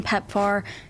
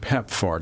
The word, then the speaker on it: PEPFAR: Well, we have to remember that many of these NOS's that uh that get the grants from PEPAR, they have enormous budgets.